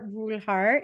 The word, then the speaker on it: Brulhardt: I'm like, it's like creme brulee.